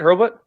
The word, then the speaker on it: Hurlbut: Is that how you say it, Hurlbut? That is how you say it. I'm impressed that you said it right the first time.